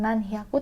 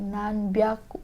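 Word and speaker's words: なんびゃく: Untuk nanyain khusus juga, dia bukan nan hyaku tapi nan byaku.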